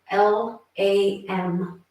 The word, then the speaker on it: LAM: And so what we're going to chant here is the seed syllable LAM, L-A-M, LAM.